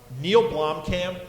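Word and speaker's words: Neill Blomkamp: So a couple of weeks ago, we talked about Neil Blomkamp, the guy who directed District 9, and we just watched last night.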